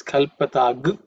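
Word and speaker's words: कल्पताम्: Chakshur yajnena kalpatam. Chakshur yajnena kalpatam. Chakshur yajnena kalpatam. Actually, when you chant the mantra, this kalpatag is the way it's pronounced. Okay, that anuswara becomes ug because of sandhi.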